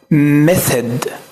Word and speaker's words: method: الطريقة دي بقى معناها method method method. الاي خليناها كأنها مفتوحة، ما قلناش method، لا قلنا meth. والاو هنخليها برضو مفتوحة، فهنا الاثنين بيتنطقوا تقريبا نفس النطق.